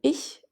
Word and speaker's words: ich: For the soft h, like in ich, imagine gently brushing a cat's soft fur with a paintbrush. And for the hard h, like in Bach, picture scratching against the rough bark of a tree. Ich, Bach.